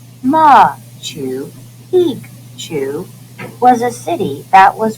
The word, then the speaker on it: Machu Picchu: was a royal estate machu picchu pronounced ma to peak to was a city that